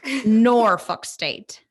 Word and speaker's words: Norfolk State: Norfolk State.